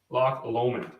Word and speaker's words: Loch Lomond: I think jurors actually yeah so block Lomond lock allowment yeah it is beautiful beautiful place it's a